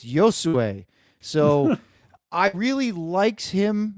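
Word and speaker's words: Josué: is Josue Quinones, which we changed the way we said his name a couple times until we actually heard him do his video pronunciation and went, oh, it's Josue.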